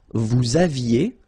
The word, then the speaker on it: aviez: Il avait, final T not pronounced, elle avait, nous avions, little liaison, final S not pronounced, nous avions, vous aviez, same thing here, little liaison between the two, ils avaient, so remember,